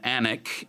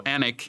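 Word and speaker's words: Alnwick: the way it's pronounced there's an L and a W in there somewhere but it's not pronounced so Anik in Northumberland he found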